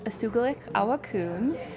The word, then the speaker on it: Usugilix Awakun: Tell us a little bit about the film, and I want you to pronounce it for me. Yeah. The film's name is Usugilix, Awakun, and it was produced by Spruce Films, which